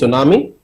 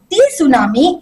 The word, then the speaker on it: tsunami: nam and before that the t is silent that's why we don't call it tsunami it's tsunami because t is silent and su means harbor